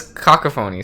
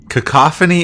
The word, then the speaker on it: cacophony: how is that me cacophony is the word and that's it cockaphoney is not a word you don't say it like that it's gotta be a word no cacophony that is because it's because it's it's not coco phony it's ca company i